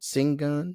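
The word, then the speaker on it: Şengün: singan from the Houston this is how you pronounce it s n g n singun singing singing singing forou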